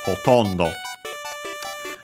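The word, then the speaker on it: ほとんど: Hotondo. We have found it before. It means almost, nearly, mostly, practically. An adverb. Accent on the to, so hotondo.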